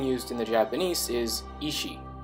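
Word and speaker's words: 意志: in the Japanese is ishi. This is pronounced pretty much the same as the term ishi, or dying will, that's being translated as blood echoes.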